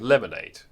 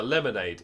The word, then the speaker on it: lemonade: of these being in lemonade now lemonade is actually three syllables lemonade but the way we say the word the first two syllables are quicker than the third one lemonade lemonade lemonade lemonade